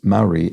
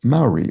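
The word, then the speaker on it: Māori: not internalizing it, but says Maoris pronounce Maori as Maori rather than what I said, which I think was something more like Maori or something, which I need to train myself not to do, so I apologize.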